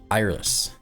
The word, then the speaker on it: Eirlys: Iris. Um, best that I could find. That's how you pronounce her name.